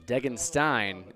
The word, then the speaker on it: Degenstein: Degenstein is the correct pronunciation there of number 15, Wyatt.